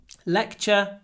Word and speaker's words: lecture: missed the lecture today lecture the most important thing t r e equals ch leure ch the lecture